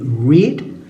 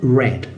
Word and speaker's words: read: participio la pronunciación varía en presente se lee read en pasado y en participio red más o menos como el color rojo en este bloque